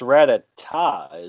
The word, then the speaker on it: Rattata: I never really figured out how to say this Pokemon's name right, but I believe it's pronounced Rattata. It's Rattata, isn't it? Rattata. Okay, yeah. Because Rattata, that's like music, Rattata-tat-tat.